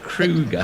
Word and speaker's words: Kruger: You say his name again, Dexter Kruger. Kruger, yeah, Kruger, like the national park in South Africa.